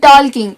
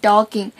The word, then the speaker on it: talking: And it is not walking and talking, it is walking and talking. And the letter L is silent.